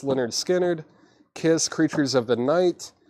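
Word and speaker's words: Lynyrd Skynyrd: uh comment in the comment section Leonard skinnard pronounced lonard skinnard kiss creatures of the night Cindy Lopper she's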